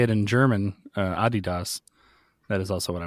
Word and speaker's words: Adidas: I was going to guess Adidas.